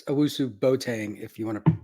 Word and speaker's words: Owusu-Boateng: I'm pretty partial to Woo, and it's Owusu-Boateng, if you want to pronounce it.